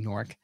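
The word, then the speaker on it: Gnorc: an orc it's yeah that's right so nasty norc um and his world nasty's world is just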